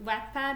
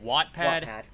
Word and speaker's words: Wattpad: like posted like a few fan fictions to wack pad is that how you pronounce it wattpad yes wattpad i don't do the english today